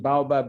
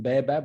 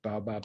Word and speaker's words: baobab: the way i use i use the pronunciation baobab rather than bearbab which may surprise you um but most people in africa call it baabab and i've just come